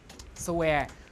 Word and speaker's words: swear: But there are some words like swear, which you pronounce S and W, swear, right?